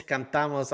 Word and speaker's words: cantamos: Okay, it's cantamos. I pronounce the word right. I pronounce the word right for both the. Okay, Thank you for that, fool. cantamos. It's cantamos. I pronounced it right.